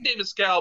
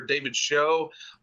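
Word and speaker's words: Schow: David scowl because uh you could either pronounce i his name's either David scow or David show um and all the stuff uh from this movie The commentaries they called him scow and um and I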